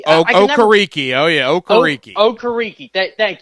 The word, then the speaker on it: Okereke: You let the linebacker, I can never pronounce his name, Bobby Okereke. Okereke.